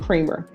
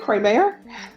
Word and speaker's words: Creamer: There's to be no contact with um Vargas, Thirsten, Eurea, Gets, and Creamer.